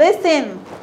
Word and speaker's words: listen: and listen استمع. listen استمع. هيقولي فيها تي دي يا ميس، ما قلتيش listen ليه؟ غلط. التي silent. التي silent يعني تكتب لا تنطق.